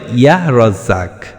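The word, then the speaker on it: يا رزاق: উচ্চারণটি হবে ইয়াহ রাজ্জাক।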